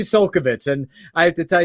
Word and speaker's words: Csolkovits: We had the wrong emphasis on the wrong syllable. Listen, I tried. We practiced before. I really tried hard. When the emphasis is on the wrong syllable, that happens. So it's actually Csolkovits, and I have to